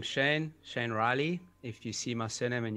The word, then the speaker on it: Rielly: as you said my name is Shane Shane Riley if you see my cinnamon you don't know how to pronounce it and I my business is called